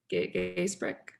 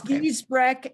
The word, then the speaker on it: Giesbrecht: Gaysbrick. Yes. I don't know. Yeah. Something like that. Okay. Dr. Popsicle. That's easier for me to pronounce. It's Giesbrecht, and he also has a program you can look up.